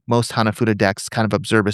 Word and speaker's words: Hanafuda: Is it Hanafudu? How do you say that Fuda. again? Fuda. Hanafuda.